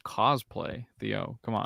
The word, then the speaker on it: cosplay: but in the it it's like Billy's like co-playing him he's like trying to go for the same look it's I think you bet it's pronounced cosplay Theo come on cosplay cosplay you know this I'll leave it I'll